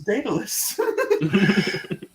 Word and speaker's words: Daedalus: You're Daddyless's friend. You say Daddyless? Yeah, Daddyless. That is Said how it's Daddyless. pronounced. Yeah. Said Daddyless. I've always pronounced it as Daedalus.